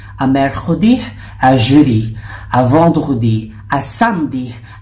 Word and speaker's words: vendredi: Vendredi, pag nakita nyo, vendredi. Vendredi, pronounced as vendredi.